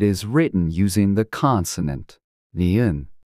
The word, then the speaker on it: 니은: To pronounce this sound, place your tongue on the roof of your mouth, just behind your upper teeth, and push air out through your nose, making a sound similar to N in no.